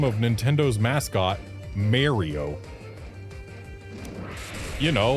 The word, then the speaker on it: Mario: N, it's Mario. It's always been Mario. Anyone who pronounces it anything other than Mario is just flatout wrong.